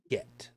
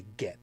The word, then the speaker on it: get: the it's the same it's the same word pronunciation as an English word but in in in Judaism there is something that's called a get which is a a